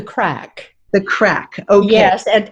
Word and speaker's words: craic: to say it correctly i think called the craig something the craic it's actually called the crack the crack oh yes